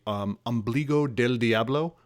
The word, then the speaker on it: Ombligo del Diablo: the shows my guest is matt from the ambligo del diablo life flight did i pronounce it correctly and is that your name